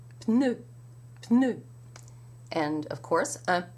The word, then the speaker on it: pneu: Well, in French, you pronounce that P, and so you have the tongue in position for the N, with the tip of the tongue against the upper teeth, and you bring your lips together for the P.